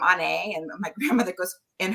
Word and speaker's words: Onae: Paul being nice um actually my name is pronounced on a um and it's Celtic